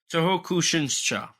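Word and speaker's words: 東北新社: Tohokushinsa. Tohokushinsa. Wait. Have I been pronouncing this company's name wrong? Because it's Toho Oh my god. Kushinsha. I just realized I've been pronouncing it wrong this whole time.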